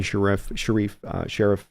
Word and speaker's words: Sheriff: No major huge shockers aside from maybe Jimmy Sheriff. I always want to say Sharif because I heard that pronounced once that way, and now it's always going to be pronounced that way.